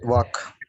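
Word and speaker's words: walk: சோ இதை இதை இது அதே மாதிரிதான் இங்க எல் வாக் வாக் yoke yoke yoke மஞ்ச கரு இருக்கு இல்லைங்களா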